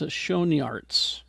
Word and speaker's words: Schoenaerts: this is Matthias Schoenaerts, I think.